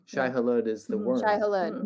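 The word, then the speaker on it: Shai-Hulud: Shai Halud. Their name. His name. Shai Halud is the worm.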